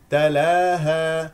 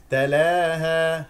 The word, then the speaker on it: تلاها: لانها مكسوره اذا اذا تلاها لا تقل تلاها تجعل في الالف اماله تلاها هذا خطا تلاها تلاها تلاها تلاها